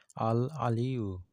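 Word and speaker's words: الْعَلِيُّ: মধ্যেও একটি নাম হলো আল আলিউ এখানে আইন আছে আইনের উচ্চারণ করতে হবে আল আলিউ এই নামটির অর্থ এবং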